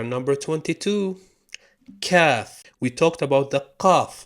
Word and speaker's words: ك: pronounced Ka and Kaf is pronounced Cha. Now, rarely it's pronounced Tsa, like a T and an S, but you can hear this in some parts of Saudi Arabia. But Ka is the official pronunciation, which you will hear the most.